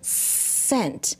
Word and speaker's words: scent: You see how the S makes a sound, but the C is silent, okay? Like in the word scent.